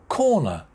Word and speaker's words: corner: t penalty next one corner two syllables corner main stress at the beginning corner corner next one free kick